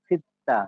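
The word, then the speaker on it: 씻다: এই দুটার একদম মাঝামাঝি উচ্চারণে, চ এবং স এর মাঝামাঝি। চিত্তা এরকম শোনায়, চিত্তা, বুঝছি? দেখেন তাহলে এটা চিত্তা বলবো, হ্যাঁ?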